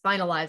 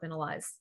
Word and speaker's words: Binalyze: mispronouncing your company name it's finalized not been allies that's great yeah okay